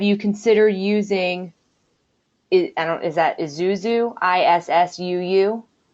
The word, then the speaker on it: ISSUU: Someone said, have you considered using, is that Isuzu, ISSUU? Not familiar with Isuzu. Or issue, or he said it's pronounced like issue.